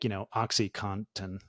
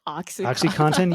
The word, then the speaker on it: OxyContin: Well, it's just because like OxyContin has an N in it that's like almost silent in most people's pronunciation. Like I thought for a long time it was OxyContin with like literally COTTON, and then saw it spelled and was like, wait, it's contin.